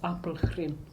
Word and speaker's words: Apelgren: That's actually how the surname is spelled and pronounced, Apelgren.